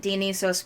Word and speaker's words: Dionysos: I apologize if people have heard me pronounce it Dionysos before. I'm actually learning ancient Greek now, and that's one of the ways that it was pronounced in the classes that I'm taking.